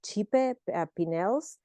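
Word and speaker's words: Cipe Pineles: uh designed by and I actually think you spend you pronounce this chipe pels so chipe pels uh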